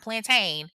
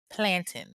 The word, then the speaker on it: plantain: It is not plantain. It is plantin. Okay, I don't know why people I don't know where the plantain came from, but yeah, to anybody that is saying it wrong, get it right because these Jamaicans will correct you.